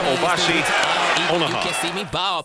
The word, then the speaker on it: Obasi Onuoha: Correct pronunciation, Obasi Onaha.